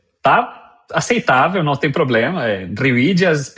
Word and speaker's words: Rivillas: Rivídias é a pronúncia original, mas tá de bom tamanho.